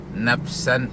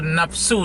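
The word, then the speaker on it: نفسا: contohnya si Nazaruddin ini dia membaca ayat layukallifullah layukallifullah nafsan illa wus'aha dia baca apa like Knife nafsu dibacanya padahal layukallifullah dibacanya layukallifullah nafsu nah ini jelas salah sekali kemudian tajwid-tajwid nya makhraj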